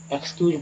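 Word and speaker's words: excuse: क्यू ई एस ई, एक्सक्यूज पढ़ेंगे इसे, तो ई एक्स का उच्चारण ई एक्स नहीं बोलेंगे बल्कि एक्स ही बोलेंगे, एक्स एक्सक्यूज, है ना।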